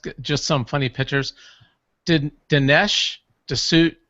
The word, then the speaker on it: D'Souza: Dinesh D'Souza, how do you say it? D'Souza?